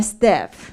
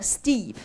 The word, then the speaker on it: steep: You talk about if a slope is gentle, or you say step. Step means I walk up a step. That means step. So steep.